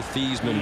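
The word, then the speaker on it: Theismann: question here Joe thean he was Joe thieman back in 1969 when he put the job Heisman rhymes with Heisman and he still finished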